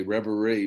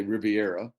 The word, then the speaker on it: reverie: usual places you know by the way you pronounce it correctly reverie most people say riviera we do have a redneck riviera yeah uh